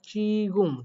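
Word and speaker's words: 지금: পড়াই হচ্ছে ঝ, বাট এই কোরিয়ান ভাষায় একটা শব্দই জিউটটা প্রথমে বসলে আমি চ শিখিয়েছি এবং সেইটা অনুযায়ী এটার উচ্চারণ হয় চিগুম, চয়সি গয়সুমা, চিগুম।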